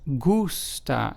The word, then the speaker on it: gusta: t a which means like in Spanish is pronounced as gusta as opposed to to H so just remember